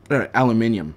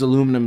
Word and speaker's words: aluminium: like what yeah well that's like aluminum too aluminium yeah I don't I don't actually know which